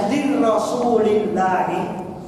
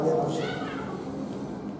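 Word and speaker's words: لِرَسُولِ اللهِ: Bacanya lirrasulillah. Karena orang Arab itu kan mengucapkan kata yang mana yang paling pas di lidahnya. Karena lirrasul itu beda dengan lirrasulillah. Mengucapkan terlalu berat kalau lirrasul.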